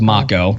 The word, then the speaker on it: Mako: And I guess the correct pronunciation is Mako.